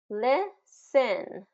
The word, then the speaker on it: listen: Listen, listen.